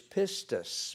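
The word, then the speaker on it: πίστις: Pisteuo, if I remember how to pronounce a Greek word or two. Now, the noun is pistis, P-I-S-T-I-S.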